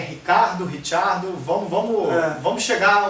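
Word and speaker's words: Ricciardo: É, mas o o Daniel Ricardo vai continuar sendo Daniel Ricardo, pelo jeito. Mas os pilotos mais italianado, tipo o Felipe Massa, vão sempre chamar ele de Richardo, mas como não tem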